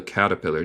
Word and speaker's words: caterpillar: Y esto es mi acento estadounidense, que yo digo la T más como R española. También se puede decir caterpillar. Caterpillar, está bien, también.